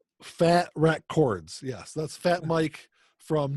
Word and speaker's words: Fat Wreck Chords: for sucking it up I was like that records but you just said it wrong no it's actually Fat Wreck chords yes that's Fat Mike